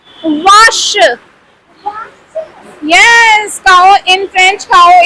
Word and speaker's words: vache: Vache.